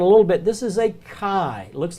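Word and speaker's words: χῖ: bit this is a chi looks like an ex but it's a chi it's a it's a hard CH sound Chi maybe a que sound something like that s'ok i go ahead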